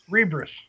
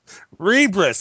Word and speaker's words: Rebris: And today, I guess we have with us Rebre. Is it Rebre? Is that how you pronounce that? Rebris. Rebris.